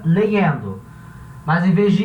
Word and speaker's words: leyendo: Vai ter lugares que vai pronunciar esse Y, legendo. Outros lugares vai pronunciar legendo. Outros lugares vai pronunciar legendo. A pronúncia tanto faz, você escolhe uma.